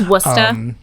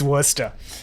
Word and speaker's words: Worcester: kinds of crazy words there's a c in it for no reason it's worcester yeah it's worcester uh so uh jordan